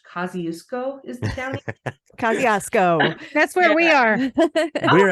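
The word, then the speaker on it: Kosciusko: And then that night, we did a paranormal investigation of their old, I think it's pronounced Kosciuszko is the county. Kosciuszko.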